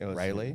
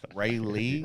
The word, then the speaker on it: Raleigh: raleigh i don't know how you say it rayleigh yeah rayleigh ray lee rayleigh yeah um we were in the middle